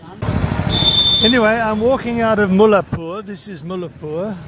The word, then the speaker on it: Mullanpur: Anyway, I'm walking out of Mullanpur. This is Mullanpur, which is spelt Mullanpur, but they don't pronounce the N.